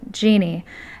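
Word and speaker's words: Jeanne: my deceased half-sister, but pronounced the same as me, so Jeannie, and mental illness.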